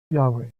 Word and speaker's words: Yahweh: It's spelled YHWH. And when it is pronounced, and the Jews do not pronounce it, Yahweh.